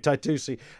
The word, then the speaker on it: Taitusi: all right okay worst twist we're stick with taitusi uh and that's fine um you are one